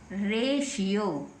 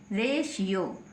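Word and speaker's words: ratio: तो टी को क्या पढ़ेंगे श क्या पढ़ेंगे श तो रेशियो क्या बन गया रेशियो यह शलजम वाली श है रेशियो ऐसे ही नेक्स्ट लिखा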